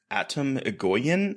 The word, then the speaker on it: Atom Egoyan: It's by director Atom Egoyan, I think is how you pronounce his name.